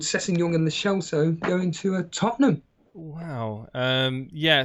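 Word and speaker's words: Lo Celso: Sorry, that's how you pronounce it. It's Le Celso.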